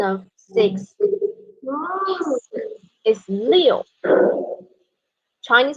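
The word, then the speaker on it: 六: six years because the pronunciation of six is leo chinese pronunciation number six is illegal means uh we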